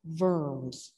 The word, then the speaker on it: Worms: find in your garden it's actually a city in germany and it's pronounced verms i think that's how